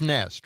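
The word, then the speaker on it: Nestlé: All right, so it's nest, right? Nest. Like a bird nest.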